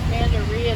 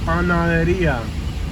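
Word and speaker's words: panadería: Over there, there's a Pandaria Torteria. Panaderia. Say it with me, Katie. Panaderia. Now you got me saying it wrong. Panaderia. Panaderia. Pana. Panaderia. Deria. Panaderia. Panaderia. No, not diarrhea. Panaderia.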